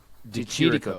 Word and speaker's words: Di Chirico: Di Chirico, thank you.